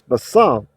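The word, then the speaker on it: בשר: But it's basar, with the accent on the second syllable.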